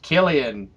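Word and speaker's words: Cillian: up and like 40 people were like It's pronounced Killian that's so much cooler I thought it was silan because it's it's a sea I thought it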